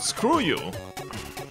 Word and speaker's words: SKRJU: SKRJU. Screw you. Demo zoo org. I have no idea what the fuck you're talking about. There's a group called Screw You. Okay, so what's SKRJU.